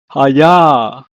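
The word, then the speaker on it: חיה: In Hebrew, is pronounced as haya. Haya.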